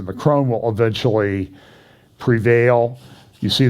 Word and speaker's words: Macron: in 2022 you see mccrone and and marie le pen there's a there's a big election in france this year uh their pronunciation by the way in the financial times is the macron will eventually prevail you